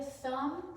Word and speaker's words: thumb: And then we have here thumb, which is the silent B.